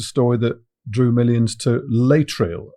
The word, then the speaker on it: Laetrile: Well, this, unfortunately, is a story that drew millions to Laetrile. I believe it's pronounced Laetrile, but also Laetrile, and it's also called amygdalin, or vitamin B17.